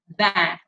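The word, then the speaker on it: vingt: Van. 20 is pronounced as van.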